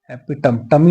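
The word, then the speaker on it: epitome: theos एपोथियोसिस एपिटम एपिटम एपिटमटमी नहीं पढ़ते इसको एपिटम ही पढ़ते हैं स्पेलिंग यही है ठीक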